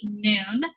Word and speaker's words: Nun: So this is the form that the Nun takes when it is the last letter in the word, and it's pronounced exactly like our N.